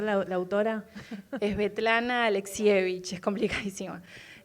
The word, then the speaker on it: Svetlana Alexievich: ¿Puedes pronunciar la autora? Es Svetlana Alexievich, es complicadísima.